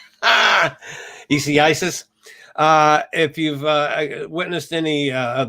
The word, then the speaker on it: Isaias: anything so far from Hurricane EC, come on, tongue. Hurricane Isaias. I had it right the first time. Isaias.